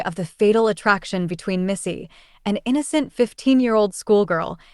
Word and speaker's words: Missy: we go and I think I may have pronounced her name as Misty it's actually Missy so that is my bad what happened to